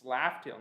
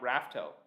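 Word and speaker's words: Laugh Tale: It's Laughtail, not Raftail.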